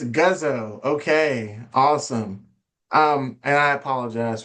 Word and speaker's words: Guzzo: Although my last name is Guzzo. Good. I can't get anything right. I poured my heart and my soul into that bio and I mispronounced. Right. I don't want to mess up again. It's Guzzo.